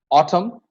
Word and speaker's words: autumn: Now, N is not pronounced if words end with MN. You know that. Autumn, column, dam, hymn. We are not pronouncing the N.